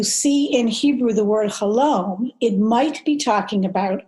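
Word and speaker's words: חלום: So the first thing I'll just say is that the word in Hebrew for dream is chalom, rhymes with shalom.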